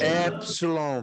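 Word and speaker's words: épsilon: Como é que ela se pronuncia? Epsilon? Epsilon, perfeito.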